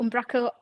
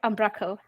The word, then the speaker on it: Umbraco: umrao umra umco well there are people who say it both ways umrao umbraco I call it umco and a fun fact